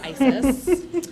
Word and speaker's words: ISES: international special event Society ises is the acronym unfortunately uh when you know how you pronounce that it's Isis but regardless it is